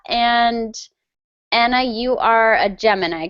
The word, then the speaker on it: Gemini: In English, we would pronounce that Gemini.